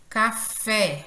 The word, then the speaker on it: café: Café, observem aí que a sílaba fé, ela soa com maior intensidade, é a última sílaba.